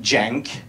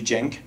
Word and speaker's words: jank: are called I think jank I hope I'm pronouncing it correctly it's like J a and cake so it should be jank and so basically for